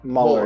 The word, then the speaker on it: Mueller: pronounce your last name moeller or yeah muller yeah yeah like it rhymes with color is what my dad always says there you go um